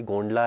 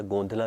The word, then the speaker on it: गोंधला: तो इसका सही प्रोनाउंसिएशन एक्चुअली गोंडला है या गोंधला भी आप कह सकते हो।